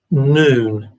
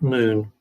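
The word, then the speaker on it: Nun: And key 13 is actually pronounced noon, spelt N-U-N, but pronounced noon.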